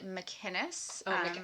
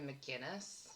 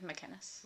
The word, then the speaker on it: MacInnes: So, it's McInness. That's the Irish version. McInness. Well, you're he's her husband is Scottish. Yeah. of McKinnus.